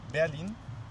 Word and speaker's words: Berlin: Yeah, we are planning to go to Berlin next month. Yeah, to do some shot and. But if you're there, don't pronounce it Berlin. Pronounce it Berlin. Berlin. Like the drug, lean, you know?